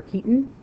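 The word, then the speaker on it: chitin: Cellulose or keton. That's kind of weird spelling for it, but it's pronounced keton.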